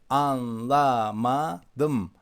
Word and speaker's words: anlamadım: Anlamadım, anlamadım, anlamadım. But when we speak a little faster, we kind of pass over the pronunciation of an. Anlamadım, anlamadım.